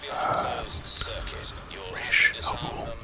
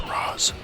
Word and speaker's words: Ra's al Ghul: see him kind of take on Ra's al Ghul, even though they commonly mispronounce his name in that movie as Roz.